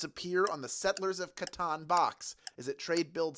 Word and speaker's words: Catan: from the 1980s and count pronounced Catan would be a weird